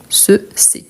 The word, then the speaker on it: ces: Qu'est-ce qui change? La prononciation. C'est. Donc, ce fils, ces fils.